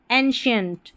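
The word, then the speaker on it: ancient: एंशिएंट यहां सी आई ई एन टी को शियंट करके पढ़ा गया है।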